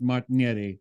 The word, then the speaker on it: Martignetti: sound so good because in the U.S we just can't pronounce Martin Yeti uh the way that we that we do in uh outside of the US um so thank you